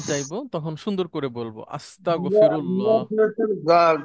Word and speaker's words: আস্তাগফিরুল্লাহ: গ উচ্চারণ করি কিন্তু ওই যে গইন যেটা ওই গটা আসলে আমাদের উচ্চারণ হয় না আর হ্যাঁ গ দিয়ে বললেও হবে আস্তাগ ঠিক আছে আস্তাগ কিন্তু অনেকে ক বলে একদম না আমরা নেভার কনসেই লেভেলের